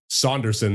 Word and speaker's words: Sanderson: For the Norris between Luke Hughes, Nolan Sanderson, and Charlie McAvoy, is Nolan Saunderson is how it's pronounced, excuse me, of Nashville with 78 points in 82 games played.